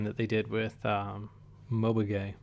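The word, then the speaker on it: Mobage: they did with um Mobay which is how you pronounce um NG Moo's new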